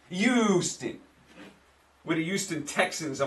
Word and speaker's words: Houston: And all my friends in Texas say, Mike, it's not Houston with a U. That's not how you say it. Well, that's how I say it with my New York accent. Houston.